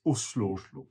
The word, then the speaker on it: Oslo: And by the way, in Norwegian, the O is pronounced U, so it's Oslo.